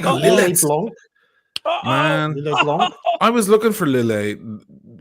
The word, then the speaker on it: Lillet: I was looking for lilay like and it's probably called lillette because titles usually end with the you pronounce the T or the s in French but I was looking